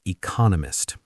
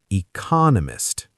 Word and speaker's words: economist: Take the word economist. It has four syllables. If you use a flat rhythm, it might sound like ecoist, but the stress must be on the second syllable. Economist.